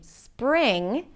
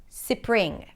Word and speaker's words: spring: So instead of saying 'spring', they might add an /ɪ/ sound between the S and the P: 'sipring', 'sipring'.